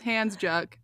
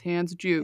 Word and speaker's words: Handsjuk: But if it's not, I thought it was Handsjuk, but it's not. It's Handsjuk, Yeah, it's a according to 3 wild different spelling.